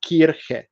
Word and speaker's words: Kirche: So if you speak German, you know that church is pronounced as kirche.